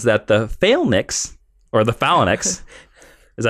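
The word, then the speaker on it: Phalanx: when Miguel learns that the Fack or the FX is that how you say it failen failinks thank you I like to call the phenx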